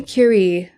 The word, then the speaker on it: Curie: Marie Curie, which is the only way you should ever pronounce her name. I mean, that's the way her name deserves to be she's pronounced. French, right? You got to say it like that.